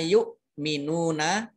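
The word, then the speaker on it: يُؤْمِنُونَ: Nah, ini bacanya yuk minuna. Jangan salah dengan ain. Kalau ain, yuk. Nah, gitu. Nah, jadi yang mirip itu hamzah sukun, ain sukun, dan kaf sukun. Itu mirip, tetapi bacanya harus berbeda.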